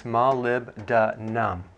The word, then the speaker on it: molybdenum: It's hard to pronounce, but it's molybdenum.